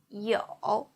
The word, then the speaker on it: 有: 有 e o with third tongue, 偶 e o 有 e o 有 Please repeat.